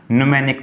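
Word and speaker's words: mnemonic: कौन सा होता है एन साइलेंट है बेटा एल स्पेलिंग ही गलत लिखी है ये वाला नहीं एम साइलेंट है न्यूमेनिक मेथड ये है बेटा स्पेलिंग इसकी एम साइलेंट है।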